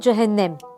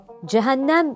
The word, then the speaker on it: cehennem: ona da yanlış diyemeyiz bir başka ihtilaflı kelime de cehennem Cehennem diye sadece orta hecenin açıldığı Cehennem şeklinde son iki hecenin açıldığı Bir de cehennem olarak ilk iki hecenin kapalı son hecenin açıldığı söylenişleri heceyi Orta el sesiyle söylemeye alıştım büyüklerimden duyduğum gibi Cehennem telaffuzu söylüyorum Orta el sesi ne